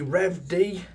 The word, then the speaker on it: REVED: cells so yeah the I believe it's pronounced revd RDX temp scale drift